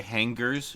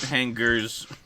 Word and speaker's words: hangers: Goat hangers. What? Did you just overpronounce the G? That means I have to kill you now. Who the fuck pronounces the G?